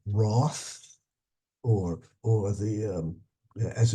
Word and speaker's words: Roth: uh represent both letters even though the H is not pronounced at all the in any event